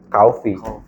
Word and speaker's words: Cofe: Cuman ee cofe itu kalau misalkan ee di googling cara membaca itu kofi. Bacanya koi itu kofi.